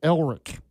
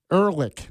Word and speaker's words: Ehrlich: Or Elric. I'm saying his name wrong. I don't know why I'm saying it wrong. Ehrlich. There we go.